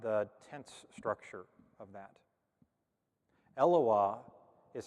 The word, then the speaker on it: Eloah: Eloah is how you say that in singular form.